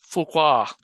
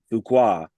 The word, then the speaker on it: Fuqua: Fuqua. Fuqua.